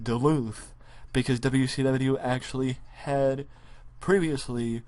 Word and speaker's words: Duluth: Yes, that's how you say it, Duluth, because WCW actually had previously run shows in Duluth, and possibly even Ring of Honor has as well.